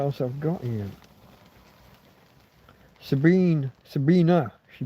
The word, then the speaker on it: Sabine: Sabina, she pronounces it.